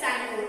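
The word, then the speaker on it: Tsangpo: So here it is written T-S-A-N-G-P-O, but in this word we will pronounce it like Sangpo. T is silent because we can't pronunciate Sangpo.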